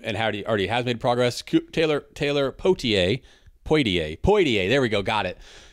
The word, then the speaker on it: Poitier: No, I pronounce the first I. It's Poitier.